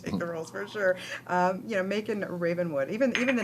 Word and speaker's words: Macon: It's spelt Macon. You see, because of the wine in France is M-A-C-O-N, Macon. But they all said Macon. I said, Macon is Macon, surely. No, Macon.